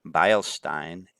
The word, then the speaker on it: Beilstein: Beilstein, in both of these EI combinations, is pronounced with the I pronunciation.